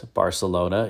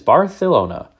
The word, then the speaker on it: Barcelona: AMC Mador Barcelona and yes that's how you pronounce Barcelona if you are in Spain it's Barcelona so we'll talk about that now 1978 would